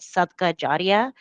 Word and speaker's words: sadaqah jariyah: is this term over here, and you can pronounce that sadaqah jariyah, which means charity with a lasting impact, and specifically voluntary charity with a lasting impact.